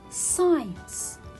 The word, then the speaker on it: science: read it abscess next science i will not read here letter c as it is a silent letter why because it comes after letter s it comes after letter s so when letter c comes after letter s i will not read it it will be a